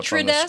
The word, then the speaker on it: detritus: the inside, there was toys everywhere, garbage, and detritus. I can't pronounce this word. I'm so sorry. Let me look at the pronunciation. I'll put it up on the Detritus.